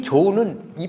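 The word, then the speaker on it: 潮: 1등이에요 얘가 일품 그리고이 조는이 파도는 조라고 읽어요 조 근데 원래 파도 우리가 조수 간만의 차이 그러잖아 그 자인데 이거를 조정 조정할 때 그 당대의 조정에서 할 때 이때의 조자 같이 읽어요 우리가 박쥐를 편복 있데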